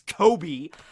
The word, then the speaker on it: Koby: But yeah, it's spelled with a K. It's Koby.